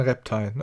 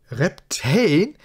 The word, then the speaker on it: Reptain: Okay, dann Reptain. Okay. Der See ist von lauter Kristall bedeckt. Es ist unmöglich, an das Zahnrad der Zeit heranzukommen. Reptain. Reptain. Reptain? Reptane? Reptane? Bullshit, nein. Also Reptane wird's nicht ausgesprochen.